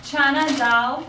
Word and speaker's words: Chana dal: Chana dal. Chana dal.